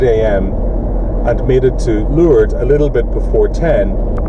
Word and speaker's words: Lourdes: a great trip to lourdes or lured if you're using the french pronunciation of it um just after leaving